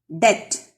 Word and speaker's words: debt: The next word, debt. In this word, B is silent.